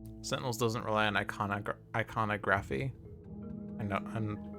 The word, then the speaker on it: iconography: E3 is blighted, but we just it's pronounced iconography.